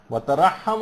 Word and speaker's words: وترحم: علی عجزنا واغثنا بحقہم، ہے کے اوپر زبر نہیں ہے بلکہ یہاں پر جزم، وترحم علی عجزنا واغثنا بحقہم،